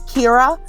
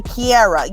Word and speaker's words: Kira: school and uh so they could never say my name kira they did everybody want to make a kiara you know black people